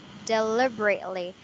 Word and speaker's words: deliberately: deliberately it is because there are like five syllables deliberately yeah there's five but the stress is on the first one deliberately so basically you just squish them together yeah deliberately just like that the only greatly yes